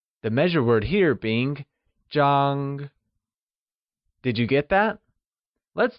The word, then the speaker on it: Zhāng: The first measure word we will learn is Zhāng Zhāngis the Measure word for something flat such as a bed, a photo, or a paper It is pronounced with a high level tone, like Zhāng Great!